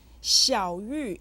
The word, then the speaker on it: Xiao Yu: hear in shell Yu Xiao Yu is said with the third and the fourth tones say shout you with